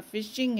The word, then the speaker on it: phishing: फिशिंग ना, तो ये हालांकि इसकी स्पेलिंग पी से है लेकिन साउंड मतलब प्रोनाउंसिएशन इसका फिशिंग है, और वही के मछली को पकड़ लो ना, मतलब मछली हाथ में आ गई।